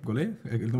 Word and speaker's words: golee: di essere qui con Tommaso guerra di gol gol la pronuncia corretta adesso Gi l'ho indovinata gol è